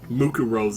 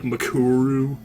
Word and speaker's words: Mukuro: It annoys me how often I misspell or mispronounce Mukuro's name. I keep calling her like Makuru. It's like, no, it's Mukuro. It's not that hard to say. It's not that complicated.